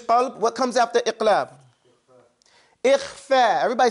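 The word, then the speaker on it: إخفاء: Because it's to pronounce the noon sound between idhar, which is an, and idgham, which is ayn. It's gone completely. So between that is ikhfa.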